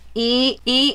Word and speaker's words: enoki: And they are called this, E-N-O-K-I. You've tried to pronounce it.